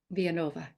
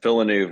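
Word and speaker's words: Villeneuve: you say it here vianova yeah villanu is the French English pronunciation I was trying to put it Spanish spin on it it wasn't anyway okay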